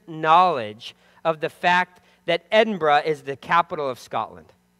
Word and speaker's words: Edinburgh: so have I it's Edinburgh just like they say it in Scotland or Edinburgh like we would pronounce